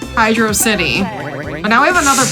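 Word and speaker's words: Hydrocity: of it is that it's written the same as words like velocity and you know that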